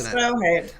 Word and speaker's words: Stråhed: How do I pronounce it? Stråhed.